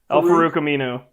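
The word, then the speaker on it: Al-Farouq Aminu: Al Farouk Aminu.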